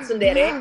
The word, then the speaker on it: Tsundere: Oh iya betul, Tsundere.